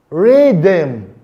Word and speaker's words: rhythm: Now, the letter H can be silent in words like hair, honor, ghost, rhythm.